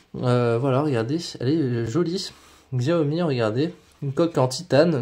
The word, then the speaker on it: Xiaomi: Xiaomi, regardez, une coque en titane, noire, très très jolie, franchement, très belle coque.